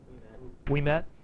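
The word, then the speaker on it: Ouimet: In these two novels, whatever his last name is, Uimet is, yeah, or Ume, yeah. How's it pronounced? We met.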